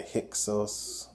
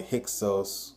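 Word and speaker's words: Hyksos: on youtube it's related to the hixos uh which is spelled h-y-k-s-o-s and it shows a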